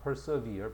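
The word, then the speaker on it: persevere: perver 그래서 우리가 보통이 참다 견디다라고 할 때 persever 참다 견디다 endure persist 됐어이 두 단어가 굉장히 많이 있어 이제 근데 우리가 보통이 단어는 발음을 학생들이 그지 좀 잘 못하는 경향이 있어 perver야 persever preserve가 아니고 자 그다음 persist 역시 마찬가지야.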